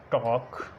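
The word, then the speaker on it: talk: उसके बाद डी, एफ, के या एम से पहले एल साइलेंट होता है। एग्जांपल्स देखते हैं कौन सी हैं। एग्जांपल्स में मॉन, टॉक, कॉफ, कॉम, चॉक, फॉक,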